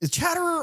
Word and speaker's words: Chatterer: Chatterer or Chitterer? Chatterer. I figured we mispronounced it in one of these episodes and